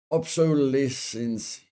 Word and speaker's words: obsolescence: Pronounced obsolescence. It's almost like obsolete.